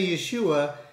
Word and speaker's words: Yeshua: Amen brothers and sisters sometimes you may hear me say Yeshua that is how you say Jesus in Hebrew.